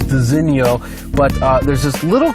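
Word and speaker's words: designo: should also mention first of all this is pronounced designio but uh there's this little crystal that is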